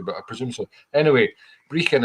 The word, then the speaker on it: Brechin: Anyway, Brechin, it's spelled Brechin, and my record company is a terrible pun based on that. It's called Brechin All Records, as in Breaking All Records.